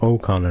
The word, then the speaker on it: O'Connor: Joe O'Connor, not Joe Connor.